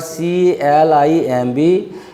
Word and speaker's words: climb: Whenever a word ends in MB, B has no sound.